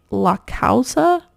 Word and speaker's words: La Causa: one of those Brands La causa I think is how you pronounce it l-a-c-a-u-s-a and this